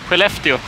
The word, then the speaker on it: Skellefteå: Skellefteå.